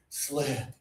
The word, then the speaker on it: slip: Good, and low tongue and breathe out. Whoa! That one is slip.